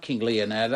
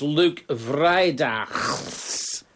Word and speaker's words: Luc Vrijdaghs: It's not King Leonardo, it's Luke Vrijdaghs.